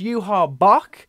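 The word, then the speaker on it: Yhwach: Following up with the man himself, our antagonist, Yuha Bok.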